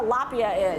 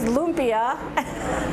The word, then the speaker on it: lumpia: put up pictures because i don't know what a lapia is and i'm like well it's lumpia and yeah we can